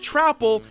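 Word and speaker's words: Troupple: Yes, it's pronounced Trapple and Icor, even the game tells you this.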